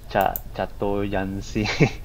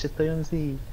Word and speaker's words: chatoyancy: I mean, I did mispronounce during my first class as well, like chatoyancy, until the instructor tell everyone it's chatoyancy. Chatoyancy. I think it's like a French word, is it?